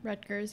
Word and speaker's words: Rutgers: According to Rutgers, is that how you pronounce that university's name? Rutgers, yep.